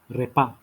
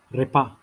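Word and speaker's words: repas: the meal is called repa repa so it is like uh rolling of the tongue with r and then the s is silent repair food generally you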